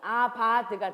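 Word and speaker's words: עבד: 하시고 거기서 이제 다스린다는 단어가 그 히브리어 동사로는 아바하드라는 그 단어예요. 한번 하나 배워보실까요? 히브리어 아바하드 해보세요. 근데 이제 V 발음을 우리가 잘 안 하니까 그걸 B로 바꾼다면 아바드가 되는 거예요.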